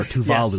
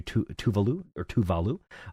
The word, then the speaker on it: Tuvalu: Or Tuvalu, yes. I believe is how it's pronounced.